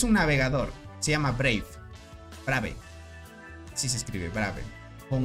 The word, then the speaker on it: Brave: Brave. Así se escribe, Brave.